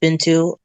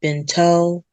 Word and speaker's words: Bintou: Um well, you know, my actual name is pronounced Bintu. B I N T O U. And when it comes to the um tou part, a lot of people mispronounce it. They usually say bento or beno.